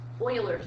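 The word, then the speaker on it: Euler: part of section 6.1 which is looking at Oilers method I know it looks like ERS method but it is pronounced Oilers method so in the first part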